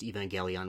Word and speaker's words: Evangelion: is I definitely knew it was pronounced Evangelion with a hard G and didn't have to